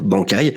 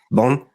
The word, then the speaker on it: Bankai: Pour bien dire Bankai, le truc le plus important quand tu dis Bankai, c'est le petit silence entre les 2 syllabes. Il ne faut jamais dire Bankai, il faut bien dire Bankai.